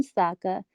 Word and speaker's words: Sokka: my boomerang that's right i'm sokka it's pronounced with an akka young ladies I wrapped